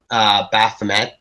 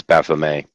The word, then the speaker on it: Baphomet: As a quick matter of absolutely pointless correction, you don't actually pronounce the T as Baphomet.